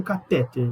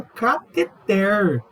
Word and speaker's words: cateter: Não é vai inserir um catéter, vai inserir um cateter. Essa é a pronúncia.